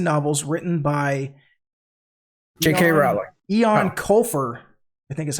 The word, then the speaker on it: Eoin: Ian Colfer, I think is how you say it. It's Eoin. Ian Colfer? Ian. Yeah, maybe Ian.